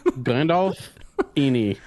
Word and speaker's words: Gandolfini: It's Gandalf. It's Gandalf what? Ini. It's what? Gandalf the Ini. Gandalf the Ini. Gandalf Ini. Yeah. Anyway, so. Gandalf. Okay. Ini. Mick, wrap us up. Gandalf Ini.